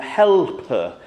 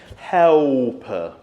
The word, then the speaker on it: helper: Helper. Helper. That L is something that I often find gets lost and it just becomes helper.